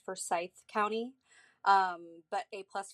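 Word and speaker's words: Forsyth: about Lake laner just wanted to say it's pronounced for Scythe County um but a plus for effort um I have been born and raised here in forye County I live about 20 minutes from Lake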